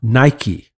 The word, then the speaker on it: Nike: John 5:4 for B is the Greek noun Nike yeah that's spelled that's that's that word n i k